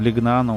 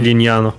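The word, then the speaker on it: Lignano: Да, Бибиона, там, Пинеда, вот эти все, там, Лигнано, вот эта вот вся тема, короче, я имею в виду, там... Линьяно.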